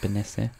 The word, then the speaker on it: Benesse: How do you pronounce that? Benesse.